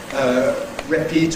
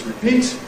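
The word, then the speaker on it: repeat: So typical foreigners’ errors are, on the one hand, /rəpəˈtɪʃn/, over-weakening, on the second hand, /reˈpiːt/ or something, doing the wrong things on the first one. It’s /rɪˈpiːt/, /ˌrepəˈtɪʃn/.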